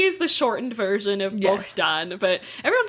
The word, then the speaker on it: Bohdan: But there's another form of that name, which is Bohdan, or Bohdan is what you would say in Ukrainian, but it's spelled Bohdan. So just in English, we would pronounce it Bohdan.